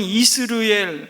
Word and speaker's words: 이스르엘: 여러분, 이스르엘 발음하기 좀 힘들죠? 이스라엘도 아니고 이스르엘.